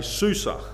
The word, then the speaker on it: Susa: And so I'm going to say susa. I'm going to use it's also known as susa. I'm going to use that pronunciation for the rest of the book rather than get involved in that tongue twister.